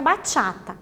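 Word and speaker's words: bachata: um pouquinho sobre a batata Essa é a pronúncia correta por mais que ela ela escreva sem o acento na hora da pronúncia nós usamos o acento para falar então ela fica vai chata ela é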